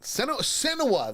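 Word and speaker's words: Senoia: Give me the correct pronunciation, please. Let me take a look here. Yeah. I would say either Sonoya or Senowa. All right. Senowa, that's it.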